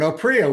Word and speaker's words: Oprea: Oprio, welcome to the Tick Boot Camp podcast.